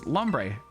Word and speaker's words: Lombre: it so much Lombre can't pronounce Lombre like ombre p instead of comfy